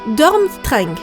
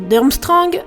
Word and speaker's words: Durmstrang: un peu cheap otages l'institut des rooms tron se prononce en réalité dorment string voilà je devais vous le dire mais je vais continuer à dire d'armstrong histoire de ne pas vous perturber maintenant que nous savons